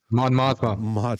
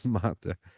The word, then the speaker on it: Mon Mothma: I always get her name wrong. Mon Mothma. Mothra.